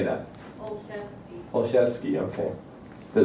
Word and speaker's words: Olszewski: Olszewski, okay. But it's still pass, even if I pronounce it right, okay.